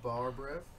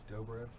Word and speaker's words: Dobrev: Nina Barbrev. Who? Nina Barbrev. Spell it. N-I-N-A-D-O-B-R-E-V. Dobrev.